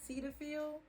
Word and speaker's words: Cetaphil: use this cleanser right here this is from cetaphil that's how you say it yes cetaphil it's